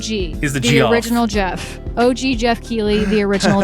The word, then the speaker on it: Geoff: original Jeff. OG Geoff Keighley, the original Jeff. So thank you all so much for listening, and remember who the OG is, the original Jeff Keighley.